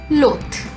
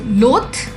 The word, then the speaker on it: loathe: Loath. Whereas this word, which ends with E, has a very soft sound at the end. So loath, loath.